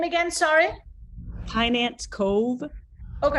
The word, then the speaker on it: Kynance Cove: This is the Kynance Cove, I think it's the way it's pronounced. Let me see if I can show you a little bit. Quite large. what's the name again? Sorry. Kynance Cove.